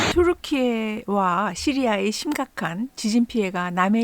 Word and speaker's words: Türkiye: 투르키예와 시리아의 심각한 지진 피해가 남의 일 같지 않은데요. 태평양의 불의 고리를 바로 옆 나라에 끼고 있는 우리나라로서는 더더욱 그렇죠. 투르키의 영어 표기와 발음은 여전히 터키지만요. 공식 국가명은 투르키예 공화국입니다.